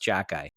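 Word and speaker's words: Xhekaj: The last name starts with X, but it's pronounced Jackie.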